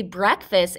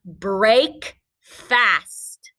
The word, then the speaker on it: breakfast: the word break but when we say breakfast it just sounds like a short s sound break fast but it's a trick word we don't say it like that this is the word breakfast what's the word breakfast